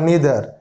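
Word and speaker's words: neither: Each, every, ইদার আর নিদার, মানে যারা নাইদার উচ্চারণ করে, আইদার নাইদার উচ্চারণ করে, তাও হবে ইদার আর নিদার।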